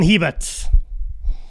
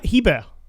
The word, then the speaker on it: Hebert: good start it's like heber it's um it's actually like like the letter a and bear so it's uh as a cajun name so that's why it's kind of pronounced a little bit weird oh that's cool that's